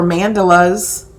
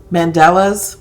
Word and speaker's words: mandala: that way I think if you look for mandalas mandela's mandalas I always say it wrong so then